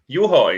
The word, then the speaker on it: Juho: Juho is how you pronounce Juho.